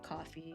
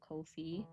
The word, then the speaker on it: Ko-fi: Because I used to say coffee because that's kind of the pun that they're trying to make, but they have said on multiple occasions that it's intended to be pronounced the way you pronounce no fee, so Ko-fi, because that's kind of